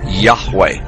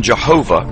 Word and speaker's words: Yahweh: most often rendered as Yahweh when written or spoken by Christians and others it is still never pronounced allowed by Orthodox Jews the pronunciation Jehovah is an older less accurate rendition of these letters it originated with the